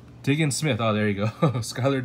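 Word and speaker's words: Diggins-Smith: Diggins Smith.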